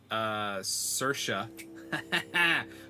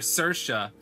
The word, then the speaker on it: Saoirse: His father, Nathaniel, stood proudly by him, huge hands resting gently on his shoulders, and his wife, Buck's mother, Saoirse, Buck's mother, Saoirse, lovingly nestled in his chest.